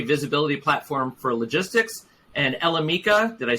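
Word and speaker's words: Elemica: Prior to Proformex, she held executive leadership positions at MacroPoint, a third-party visibility platform for logistics, and Elemeca. Did I say that right, Kris? Elemeca.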